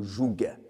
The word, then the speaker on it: joug: » On dit un joug, mais c'est vrai qu'il y a un G. Certains prononcent le joug.